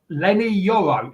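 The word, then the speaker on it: Leny Yoro: man not there he's not fit there's uh Len yoro is that how you pronounce it yep yeah he's uh he's only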